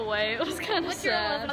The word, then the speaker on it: Saad: We should name our vlog Saad Vlogs, but spelled Saad, but pronounced Sad.